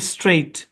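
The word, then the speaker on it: straight: হ্যাঁ জি এইচ টি এখানে জি এইচ টা সাইলেন্ট এই শব্দটা হচ্ছে স্ট্রেইট এখানে জি এ সাইলেন্ট স্ট্রেইট স্ট্রেইট মানে কি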